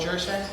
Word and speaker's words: Jersak: This is Ayman El Cockney and Jersak.